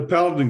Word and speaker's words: Paladin: the heroic efforts that you're doing at it's Paladin, right? That's how you say it? Yeah, the Paladin group of companies is Paladin Security, which many people in the Canadian market are very familiar with.